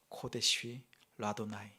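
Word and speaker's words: קודש ליהוה: 그 글자가 코데시 라도나이. 쓰기로는 코데시 예호바, 읽을 때는 코데시 라도나이라고 읽습니다.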